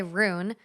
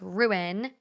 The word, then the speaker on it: ruin: someone was like oh you say ruin wrong it's ru i say rune and it's ruin like rue in ruin you ruined that versus